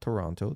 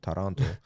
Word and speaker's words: Taranto: Yes, and his journey in the Crusades began when he joined his uncle, Bohemond of Taranto, not Toronto, Taranto, in 1096.